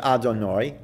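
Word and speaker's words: Adonai: in our prayer books we pronounce it Adorno but if we're referring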